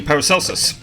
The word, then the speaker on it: Paracelsus: How you pronounce this. Yes, it is actually Paracelsus.